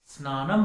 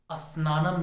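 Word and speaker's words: स्नानम्: स्त्री, स्थान, स्नान, स्नानम है, अस्नानम नहीं है, इसके पहले अ लगाने की जरूरत नहीं है।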